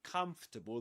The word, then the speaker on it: comfortable: So, in the word comfortable, comfortable, there is an a letter R. Okay. But you don't pronounce it.